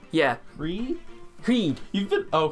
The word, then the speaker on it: Hríd: Is that how it's pronounced? Yeah. Hríd? Hríd. You've been... Oh, Hríd.